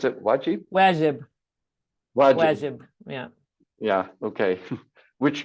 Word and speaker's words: Wajib: Is that how you pronounce it? Wajib? Wajib.